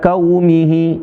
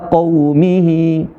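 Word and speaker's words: قومه: Kemudian di sini seringkiali teman-teman membacanya ila kaumihi bukan ka tapi qo quumihi ila qumihi.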